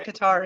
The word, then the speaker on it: Qatar: We're gonna use Qatar and tonight. Just think Atari.